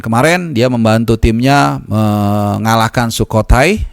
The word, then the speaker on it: Sukhothai: Dan kemarin dia membantu timnya mengalahkan Sukhothai, ini bacanya harus cepat ya, dengan skor 3-1.